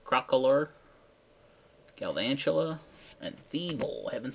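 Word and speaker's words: Crocalor: Crocolator. That's not how you say it. Crocolor.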